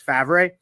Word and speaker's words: Favre: when I got it, my dad thought the they spelled their name wrong because it's Favre.